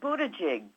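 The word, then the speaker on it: Buttigieg: left Pete buta gig is that how you pronounce his name Buda jig yes mayor Pete he's got a wonderful chart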